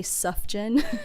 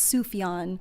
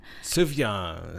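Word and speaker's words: Sufjan: s UF J like I used to say sufen but it's sufan sufan Stevens oh my gosh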